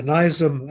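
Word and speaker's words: Nizam: of the British the nisam of Hyderabad or the NM as is pronounced in in Britain the world's richest man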